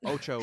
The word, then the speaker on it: OTXO: Oh, and A little ominous, but Ocho, one of the best games of the year that not a lot of people talk about. It's spelled OTXO, but if you like Hotline Miami, Yeah.